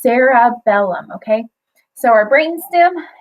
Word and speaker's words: cerebellum: sarabellum and you're like it starts with a c and it doesn't sound like it has an A but it's pronounced sarabellum okay so our brain